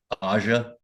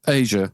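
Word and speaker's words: Aja: gonna say it right AIA am I saying it wrong yeah Asia I think it's Asia sorry yeah that's the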